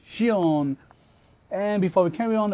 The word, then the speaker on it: シオン: check out his name so based on my understanding it should be pronounced as Shion and before we carry